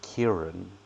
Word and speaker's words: Kairan: done it appreciate it would be pronounced Kieran yeah imagine sir yeah but he graduated SCU don't know which university that is but ACU of engineering 23.